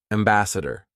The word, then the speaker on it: ambassador: things we back chained it we wrote it phonetically we wrote what we should actually be saying day Wednesday good example three Ambassador let's back chain it are you ready door